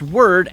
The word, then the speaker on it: Wyrd: Dimension known as the word and while yes weird would definitely fit the description of this alternate Dimension it is pronounced word as that is the original Norse origin of it for those of you